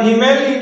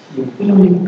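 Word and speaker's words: הִמְלִיךְ: silakan Mil Mil H coba sewa di huruf kedua itu bisu atau bunyi bisisu bisu jadi bacanya bukan himeli tapi himlik apa himlik himlik ya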